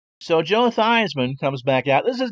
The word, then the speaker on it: Theismann: wasn't his given name it wasn't Theismann it was teased Minh the8 well no the spelt correctly but that's pronounced t's Minh and not Theismann and so I believe it was from the 1970 season the clever people in the Notre Dame athletic department said you know Joe if we change your last names pronouncing a Shinto Theismann it happens to rhyme with Heisman and maybe that's a